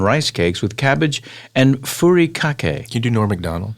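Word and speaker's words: furikake: cakes with cabbage and fury kake. Can you do Nor McDonald? Fury cake. Fury cake is how you say that.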